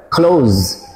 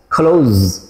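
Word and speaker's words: clothes: American ইংলিশে এই দুইটি শব্দে 3H এর উচ্চারণ হয় না, অর্থাৎ সাইলেন্ট থাকে। খেয়াল করেন, ক্লোজ ক্লোজ, মান্থস মান্থস।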